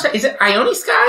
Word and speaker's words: Ione Skye: I do feel like, how do you pronounce that? Is it Ione Skye? Ione Skye.